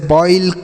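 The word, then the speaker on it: boil: टॉप नॉट अगर ओ के बाद आई रहे तो ओ का उच्चारण जैसे बॉईल coins सॉइल choice hoist moist ठीक है ओ के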